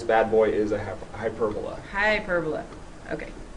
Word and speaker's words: hyperbola: Hyperbola. Okay. By the way, if you say hyperbola, you put the emphasis on the wrong syllable.